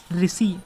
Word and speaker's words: ऋषि: तो जब ऋषि आप बोलेंगे तो ऋण का उच्चारण नहीं आएगा। र का उच्चारण आ रहा है। देखिए आप मुंह से बोलिए ऋषि तो रा आ रहा है ना?